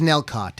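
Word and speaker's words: Nellcôte: It's Nelcott. It's pronounced Nel. It's just Sure. Nelcott. That's what it's called.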